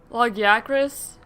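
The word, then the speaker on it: Lagiacrus: So I went back and I played and I did the Logacris. I guess it's how they actually pronounce it, which I don't know if I agree with that pronunciation, but I guess that's the official one.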